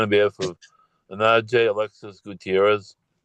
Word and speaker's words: Gutierrez: Um, this is the city of Detroit versus Anaj Alexis Gutierrez. Did I get the pronunciation correct?